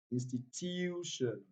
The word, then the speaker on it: institution: Number three, without wasting time, any words that ends with TI or N takes the primary stress on the second to the last. Institution, institution.